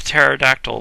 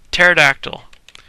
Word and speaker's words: pterodactyl: up setting up a pterodactyl loose on them pterodactyl why don't I keep trying to pronounce the P pterodactyl and that's how he